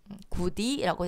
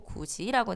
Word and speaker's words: 굳이: 구디라고 되지 않고 구지라고 되는 거.